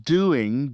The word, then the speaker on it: doing: It sounds like "I'm doing great." The G at the end of doing almost disappears in casual conversation.